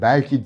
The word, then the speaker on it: belki: Belki sözcüğündeki E kapalı olarak okunur. Belki değildir.